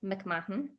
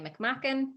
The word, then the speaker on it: McMahon: But by me, it's McMahon. Some people say McMacken. Some people say McMahon. Americans say McMahon.